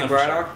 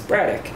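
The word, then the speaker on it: Braddock: live there might be bradoock but since I say everything with a weird Pittsburgh accent it's bradic yeah it's bradic that's what I thought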